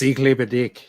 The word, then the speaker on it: ich liebe dich: I love you, like it's like yeah, it's Iklebedik.